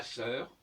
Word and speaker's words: sœur: Par exemple, la sœur, ma sœur. Qui est-ce qui imaginerait de ne pas prononcer le R de sœur?